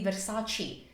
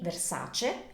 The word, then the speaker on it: Versace: Italian word ending in e in English that's pronounced as e in Italian always always so this is never going to be Versi it's going to be this was created by joh Versace in 1978 in Milan and Versace is famous